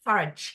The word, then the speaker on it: Farage: It's rhyme with cabbage. Farage.